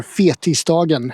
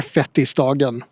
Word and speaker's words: Fettisdagen: It's Fat Tuesday, or Fetisdagen as it's called in Swedish, or Fettisdagen. The name can have different meanings depending on how you pronounce it in Swedish. It's either Fat Tuesday or the Day of the Fatsos.